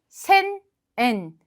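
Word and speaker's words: 千円: 100엔, 100엔, 300엔, 산몇그엔 자, 600엔, 록백그엔, 800엔, 핫백그엔, 자, 1000엔, 센엔, 그리고 3000엔, 산젠엔, 그리고 8000엔, 핫센엔, 그리고 만엔, 이치망엔.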